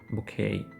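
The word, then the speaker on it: bouquet: букет так і перекладається тільки в кінці ми не вимовляємо ні в якому разі букву т це слово запозичене французької мови тому на нього звичайні правила закінчення не діють букет буде звучати як букей дивіться символізує - це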